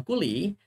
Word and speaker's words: Cooley: Dibacanya Cooley ya, bukan yang aneh-aneh ya, bukan yang lain ya.